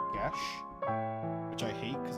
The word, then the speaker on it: Geass: Most people pronounce it Gias, but it's apparently pronounced Gesh, which I hate because it's not even close to being spelt like Gesh.